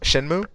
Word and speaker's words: Shenmue: and yell and yeah the developers for that Shamu show how do you pronounce it Shenmue Shenmue man that's dirty yeah that is oh